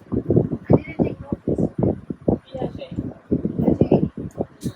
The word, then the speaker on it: Piaget: Piaget. The T is silent.